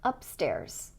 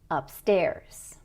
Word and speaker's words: upstairs: So for example, with the word downtown, the correct stress is stress on the second syllable. If we say it the other way, it's going to sound like this: downtown, or outside, or upstairs. And those pronunciations don't sound natural. Instead, we should say downtown, outside, upstairs.